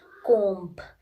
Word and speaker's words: comb: comes after A, in that case also B is silent. Like comb, tomb, limb, thumb, all the B is coming after M.